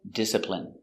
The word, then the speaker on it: discipline: discipl discipline discipline discipline stress on first discipline discipline discipline I